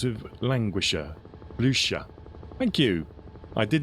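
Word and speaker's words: Blücher: Oh, Bluca rhymes with languisher. Blusher.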